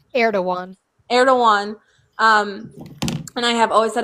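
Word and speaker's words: Erdoğan: Yeah, Erdogan. Mm-hmm. That's how it's pronounced.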